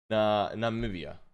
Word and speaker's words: Namibia: Namibia.